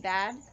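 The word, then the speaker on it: Badd: Also, like, my favorite discovery was, like, looking back into the 90s music was Color Me Bad. Not anybody? It's where the second D is silent.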